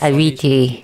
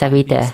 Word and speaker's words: Avita: And She pronounced the name as Avita, not Aviti. It's Avita. Which are all being introduced with this update.